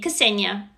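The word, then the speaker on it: Ksenia: i say my name kasenya you say the k it's not silent ah i'm a biologist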